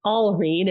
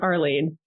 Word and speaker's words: Alreen: with my name so my name is Alene it's a l Reen um not Arlene okay all okay listeners